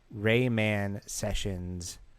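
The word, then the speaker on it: Ramon Sessions: me since this summer Rayman sessions name is pronounced Rayman sessions like a Jamaican guy saying man oh raymon Raymond sessions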